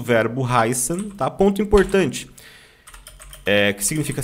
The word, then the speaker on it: heißen: O I no alemão tem som de I, tá? Então nós pronunciamos assim, ó, heißen. Até porque essa letra esquisita aqui, que se chama Estzet, ela tem som de 2 S's, tá?